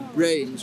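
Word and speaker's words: branes: They now talk about what they call brains, which is spelled B-R-A-N-E-S.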